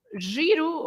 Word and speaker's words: giro: So these are words that are pronounced with the sound j, Yeah. because you have the G next to an E or to an I.